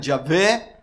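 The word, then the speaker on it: Yahvé: en el antiguo testamento algunos le pronuncian ya ve tal vez lo más cercano ya habla en hebreo el nombre del bendito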